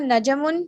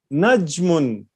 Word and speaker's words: نجم: Haza najamun. This is a star. Najmun, not najam. Najmun. Jim is silent.